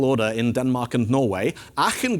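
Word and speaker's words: Aachen: in Denmark and Norway Aken goes at the beginning because it's in Germany and so it's pronounced ah but orus goes at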